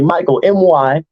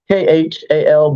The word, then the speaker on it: Mykhal: Now, I know it sounds very domestic, all right, but it's spelled exotic. So y'all listen to me carefully. Mykhal, Mykhal, but polite like the word, because I always have my manners.